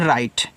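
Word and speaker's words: write: डब्ल्यू आर आई टी इसको पढ़ते हैं राइट ऐसे राइट और राइट का मतलब होता है लिखना।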